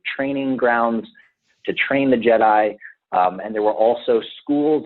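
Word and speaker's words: Djed: in nature, and it comes from the root word Jed, and Jed is spelled D-J-E-D.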